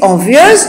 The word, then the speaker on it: envieuse: L'adjectif envieuse est à prononcer avec une diérèse.